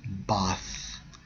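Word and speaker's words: בת: When you focus on the term daughter in the Hebrew, it's Strong's H 13 and 23, pronounced as Bath, Bath, as personification, also a description of character.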